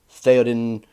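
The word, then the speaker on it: Théoden: So, Eomer, Theoden, it's, you have to really just compress that pronunciation down to a one syllable, even though it's technically two sounds.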